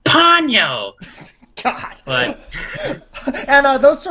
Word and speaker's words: Ponyo: And also, you're saying the name of the movie wrong. It's actually pronounced Ponyo.